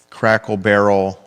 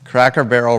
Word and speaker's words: Cracker Barrel: I do want to talk about this, and the headline can be Crackle Barrel rebrands, faces big time backlash.